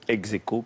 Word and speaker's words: ex aequo: Voilà, donc c'est le seul piège et on prononce évidemment à la française ex aequo puisque c'est de l'argot scolaire.